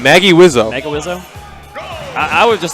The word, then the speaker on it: Magewizzo: How'd you say you pronounce it? I said Magewizzo.